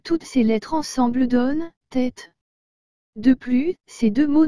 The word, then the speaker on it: tête: tableau et le mot tête vous avez remarqué que j'ai bien dit tête et non tête encore ici la différence est faible mais existe réellement je recommence encore une